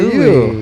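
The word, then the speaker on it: Luis: We just had a We Louis. just had a Louis. Was it always Louis, or was it ever going to be Louis, or? It's spelled with an S. So it's L-U-I-S?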